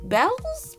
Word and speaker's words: Beals: I think it's actually pronounced Bells, but you know what?